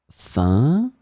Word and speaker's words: fin: In this lesson, we will see together two words that are written differently but pronounced the same way. Fin, fin.